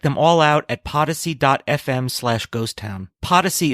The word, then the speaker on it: Podyssey: Podyssey is spelt like Odyssey, but with a P.